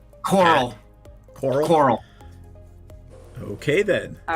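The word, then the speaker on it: Coeurl: How do I pronounce this thing? C-O-E-U-R-L? Coral.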